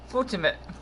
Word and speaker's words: Foltynewicz: Foltynewicz.